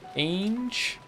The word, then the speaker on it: Ange: Just to be even more annoying, I'd like also like to say that an is pronounced the same as the English word angel without the L. Angel. Age.